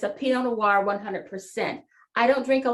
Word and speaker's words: Pinot Noir: I have a friend who pronounces it the way it should be pronounced, Pinot Noir. That's the correct pronunciation.